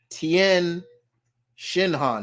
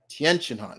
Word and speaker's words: Tien Shinhan: um Tien chinhan yes say his name right it's not Tien shinhan no it's Tien chinhan it's just one and